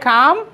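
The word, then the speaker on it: calm: এটা উচ্চারণটা এল এর উচ্চারণ হবে না, ঠিক আছে? Let's stay কাম and respectful.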